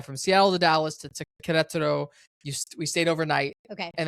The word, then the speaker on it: Querétaro: Everybody says Querétaro, like that's like the American white way to say it, but it's Querétaro. That's how you say it.